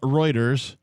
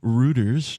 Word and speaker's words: Reuters: is an article from reuters or reuters depending on your preferred pronunciation r-u-t-e-r-s dot com reuters